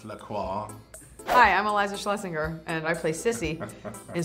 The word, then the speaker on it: Iliza Shlesinger: Pronounced Lacroix. Hi, I'm Iliza Shlesinger, and I play Sissy in Spencer Confidential, out March 6th on Netflix.